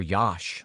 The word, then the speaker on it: Yosh: I'd always heard people call my father Yosh rhymes with Josh, a Polish nickname from my immigrant grandmother that stuck with the rest of the family.